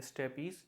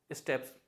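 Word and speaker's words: steppes: इसको बहुत से लोग प्रोनाउंस करते हैं स्टेपीज, जो कि गलत है। इसे करेक्टली प्रोनाउंस किया जाता है स्टेप्स।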